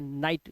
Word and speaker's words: night: नाइट। Good नाइट सर। नाइट क्यों बोलते हो? स्पेलिंग क्या होती है? NIGHT, GH साइलेंट है तो नाइट।